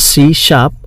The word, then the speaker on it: C#: सी शार्प is pronounced as सी शार्प, SHARP, पर लिखने में है C#, और वो एक नई